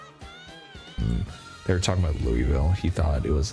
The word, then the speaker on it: Louisville: In Kentucky, we don't actually pronounce Louisville the way it sounds.